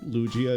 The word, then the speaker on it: Lugia: K says it's a hard G for them personally cuz in their mind Lugia is pronounced like Luigi.